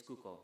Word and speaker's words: Cuco: His name is Cuco. That's spelled C-U-C-O in case you want to write it down.